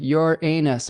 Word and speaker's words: Uranus: Moa says, "Yes, it sounds like your anus, but it's not."